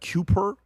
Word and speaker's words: Kuiper: How do you pronounce that? Kuiper.